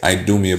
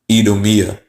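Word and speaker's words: Idumea: and s okay but the I in Latin just like if you see in Spanish has an e sound e so they were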